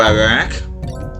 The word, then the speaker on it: Iraq: Name the country, that would be Iraq. Or Iraq.